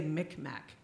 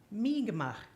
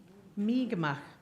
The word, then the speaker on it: Mi'kmaq: A lot of our teachers probably taught us to say Micmac, but it's really pronounced Mi'kmaq, Mi'kmaq.